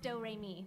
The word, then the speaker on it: Doremi: My little sister's name is Doremi Midorikawa. It's spelled like notes and pronounced Doremi.